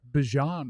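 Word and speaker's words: Bijan: It's Bjon Robinson.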